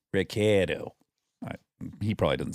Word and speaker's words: Ricciardo: Daniel Ricciardo, which if you were in Italy, you would pronounce it Daniel Ricciardo because it's got two C's. But he is an Aussie, so he says Ricciardo.